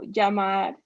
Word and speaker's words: llamar: Double L has like a Y sound, so llamar.